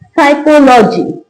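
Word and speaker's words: psychology: साइकोलॉजी साइकोलॉजी अब इसमें आप देख पा रहे होंगे कि कहां-कहां पी लिखा है और कहां उसका साउंड नहीं आ रहा है।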